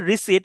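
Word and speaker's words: receipt: এল আই এল আই লিয়া পারলামেন্ট parliament রিসিট উচ্চারণটা হচ্ছে রিসিট কিন্তু বানটা খেয়াল করেন আরই সিই আই পিটি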